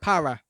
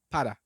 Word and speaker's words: para: You would say para, but in Spanish it would be para. So imagine that the R was a D, but it's not quite a D.